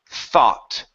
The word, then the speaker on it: thought: this word here is thought thought thought okay pronounce the T at the end thought thought good okay now with this word here the GH does not make a sound so you don't need